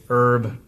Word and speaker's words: herb: creamy herb and jalapeno I say herb purposefully because our last guest wanted to remind me that the H in herb is silent so go for it